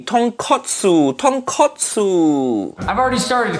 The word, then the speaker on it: tonkotsu: ramen tonkatsu nephew Nick I think you mean tonkotsu in Japanese ramen makes sense it pop bone Ramen but katsu mean katsu mean fried piece of pork that completely different thing say it properly tonkotsu tonkotsu I've already